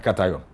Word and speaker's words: cation: very long time whenever I saw this I pronounce that kin until someone told me that no it is not called kin it is called a cat so it is not a laughing matter any